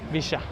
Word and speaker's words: Villa: Pancho Villa, sorry, I pronounced that very Argentinian. Visha.